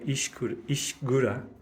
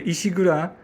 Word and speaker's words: Ishigura: And it's in the new building called Ishigura, spelled with a K in English, but it's actually pronounced Ishigura in Japanese.